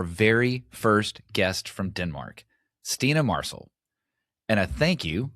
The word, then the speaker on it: Stine: Stina, welcome to CX Passport.